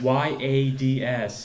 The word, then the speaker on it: yards: began to sing again this was maine so it was 200 yards yes y-a-d-s yads here's another main pronunciation what do you name